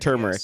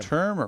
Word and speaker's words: turmeric: a few years ago which has an r in it everybody you got to pronounce that tum say turmeric they turmeric there's an R right there oh there's two rmer turmeric turmeric turmeric yes but yeah I